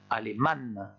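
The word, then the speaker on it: alemán: l'allemand elle et mam là il faut bien insister sur la prononciation du dernier à et ne pas oublier de prononcer le m aleman attention à ça ensuite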